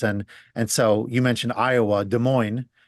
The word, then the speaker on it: Des Moines: I lived in Chicago for a bunch of years, and so you mentioned Iowa, Des Moines. The DES is how it's spelled, but it's sort of like a D sound.